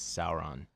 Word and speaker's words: Sauron: the Eye of Sauron actually I believe the correct pronunciation is Sauron just saying okay well